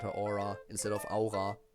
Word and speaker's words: Aura: Again, if we're going with the German pronunciation, which all the characters have German names, so Aura's name would also be the German pronunciation of that word, which would be Aura.